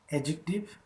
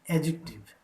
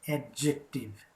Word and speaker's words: adjective: i pronounced the word adjective yes it is adjective d is silent never pronounce this word as adjective it is adjective okay